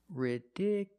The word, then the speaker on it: ridiculous: at this word ridiculous the stress moved to the second syllable ridiculous so the last two syllables are short it's not you it's ridicu you still have the Y sound y ridiculous ridiculous so